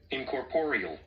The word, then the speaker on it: incorporeal: Man, I don't be liking this pronunciation stuff, man. Okay, hold on. Incorporeal.